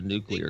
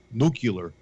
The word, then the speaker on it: nuclear: somebody set off a nuclear explosion they know yeah they have instruments they have instruments that can tell that all mispronounced nucular nuclear yeah Duke you mispronouncing